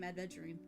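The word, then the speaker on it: Aventurine: I Isn't it Adventurine? That's how you say his name. Adventurine. Like he got ads on him and he's adventuring around.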